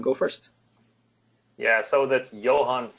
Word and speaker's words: Johan: let uh Johan go first yeah so that's Johan F amort so you came really close to